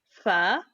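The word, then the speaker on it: فاء: Fa is the counterpart of the English sound f and ph, the f sound and the ph that are pronounced by pressing the top front teeth against the bottom lip, this one, and releasing as you blow air out, like this.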